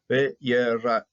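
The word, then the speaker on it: וְיָרֵחַ: Yehovah shomerecha, Yehovah shilecha al yad yimenecha, yomam v'hashemesh ve'lo yakecha ve'yerach balayla. Pata frutiva, so you can pronounce the A before the chet. So ve'yerach balayla.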